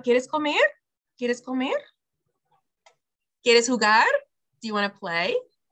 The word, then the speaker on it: jugar: Remember the J in Spanish, we talked about this in our last lesson makes a H sound. Since the H is silent, the J makes up for it and it goes huh. So jugo, jugo, or jugar. Okay, that J is making the H sound.